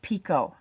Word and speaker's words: Jodi Picoult: And also this is Jodi Picoult. It's very French. It looks like a French name and it's pronounced She said Jodi Picoult.